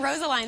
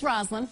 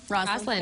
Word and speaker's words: Rosaline: I've been saying Rosaline this whole time. It's Rosaline. Rosaline.